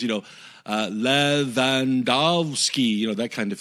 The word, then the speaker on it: Lewandowski: what he what's the phonetic pronouncement yeah phonetic pronunciations you know uh la vandovsky you know that kind of thing and i